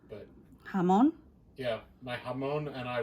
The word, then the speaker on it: jamón: And it says, and I don't know how to pronounce it, it's a Spanish word for ham. Jabón? I guess so. There's no B in it, but... Jamón?